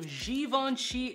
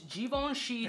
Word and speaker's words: Givenchy: by the house of Givenchy and that's not givanchi or givench no it's Givenchy gentlemen Reserve private it's